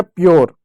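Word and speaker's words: pure: जैसे पी यू आर ई यू आया। आर आया। ई आया। पी आधा लिखेंगे। यू को यो लिख देंगे। आर को क्या? र लिख देंगे। ई साइलेंट होगा। हो गया प्योर।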